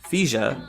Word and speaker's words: Fija: Interestingly, Byron's surname, Fija, is the Ryukyuan pronunciation of the most common surname in Okinawa itself, Higa.